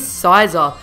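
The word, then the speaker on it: Scizor: got a Pokemon that I would be pronouncing scissor if I was making this list three years ago you guys know who it is it is sizer I'd have to say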